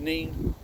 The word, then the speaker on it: Nene: We're down at a local canal, part of the Nene, depends on where you come from, how you pronounce that word. To us it's the Nene.